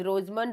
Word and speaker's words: Rosenmund: First naming reaction है to prepare aldehyde, that is रोजमन reduction. रोज and silent होता है, रोजमन reduction.